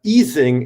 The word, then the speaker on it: Ising: There is the Ising interaction. That was a German guy. I pronounce him in German.